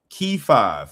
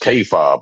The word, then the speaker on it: K5: All right, it's pronounced K5, but a lot of people mess it up in America.